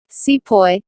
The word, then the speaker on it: sepoy: Sepoy, this is how the British pronounced the word sipahi, meaning an Indian soldier in the service of the British.